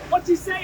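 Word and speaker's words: Wutyasay: What you say is spelled W-U-T-Y-A-S-A-Y.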